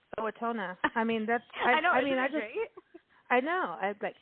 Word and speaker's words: Owatonna: I would because of your name, Owatonna. I mean, that's. I know. I know. I want to go to Owatonna.